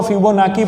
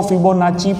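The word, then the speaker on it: Fibonacci: Okay, इसको फिबोनाकी, कई लोग इसको फिबोनाकी पढ़ते हैं, कई लोग इसको फिबोनाची पढ़ते हैं। Okay, what ever it इज, लेकिन आपको समझ में आना चाहिए। मैं यहाँ पे फिबोनाकी बताऊंगा क्योंकि इसका 2 तरह से प्रोनाउंस होता है। फिबोनाची भी बोल सकते हो, फिबोनाकी भी बोल सकते हो।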